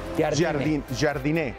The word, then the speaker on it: Jardine: Su apellido él se pronuncia Jardine.